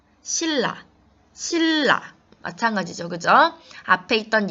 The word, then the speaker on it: 신라: 읽어요 칼날 갈 다른 장 니은 2일로 바뀌어서 발음이 됐습니다 싱 너 신라 실라 마찬가지죠 그저 앞에 있던 이 애니 일로 바뀌어서